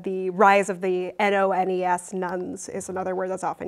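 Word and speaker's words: nones: out about give or take a quarter of Americans say that they're religiously unaffiliated. The rise of the N-O-N-E-S, nuns, is another word that's often used.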